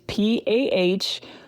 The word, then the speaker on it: pahoehoe: It's called pahoehoe, and it's Pahoehoe, and it's pronounced pahoehoe.